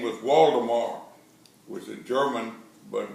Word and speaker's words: Waldemar: There were ranchers and farmers, and his name was Waldemar, which is German, but we put a V in my name, but it's still pronounced Waldemar.